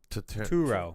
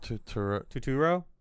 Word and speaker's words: Turturro: Turturro. Totoro?